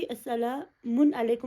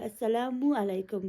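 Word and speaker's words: السلام عليكم: डाला, right, single page, ना कि अस्सलामुन अलैकुम मैंने नहीं बोला, अस्सलामु अलैकुम बोला।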